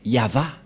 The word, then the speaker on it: Yahvah: Et la prononciation de ceci, c'est Yava.